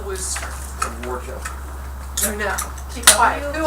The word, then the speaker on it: Worcester: Now, how do you think you would spell Worcester? Worcester. No, keep quiet. Who else? How do you spell Worcester? WHOSTER. That would be a way that would be phonetically accurate.